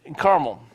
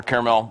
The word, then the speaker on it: Carmel: when they were in carmel or caramel whichever you want to pronounce it ask your young